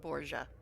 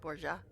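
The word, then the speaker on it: Borje: I'm assuming that's pronounced Boura because um Norn has what? Very Scandinavian names.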